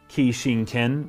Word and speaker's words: Kishin: The Kishin or Kijin. The Kijin. This was saying it's a Kishin Ken is how it would have been pronounced in the Japanese, which means machine god sword.